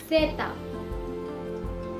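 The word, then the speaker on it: zeta: Last, सेता, सेता। तो अल्फाबेट Z को स्पेनिश में सेता बुलाया जाता है और इसके दो तरीके के प्रोनाउंसिएशंस काफी कॉमन हैं।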